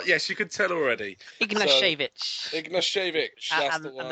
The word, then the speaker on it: Ignashevich: Obviously, their centre-back pairing of Berezutski and Ignatiev, who both play for... I'll probably pronounce it. So, yes, you could tell already. Ignashevich.